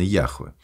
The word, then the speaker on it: Яхве: огласовки От другого звука Хотя все сами знали что произносить Надо именно Яхве и чтобы конечно ещё